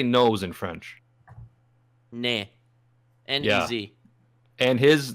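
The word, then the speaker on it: nez: Nah.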